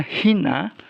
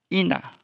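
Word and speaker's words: ἵνα: Jadi kalau menulis ina kemudian disuruh minta transliterasi, kita tulis H-nya di depan I ya. Walaupun itu tidak lagi diucapkan, tidak lagi dibaca. Jadi transliterasinya hina, tapi membacanya ina.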